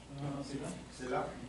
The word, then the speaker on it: Scylla: How do I pronounce? Scylla.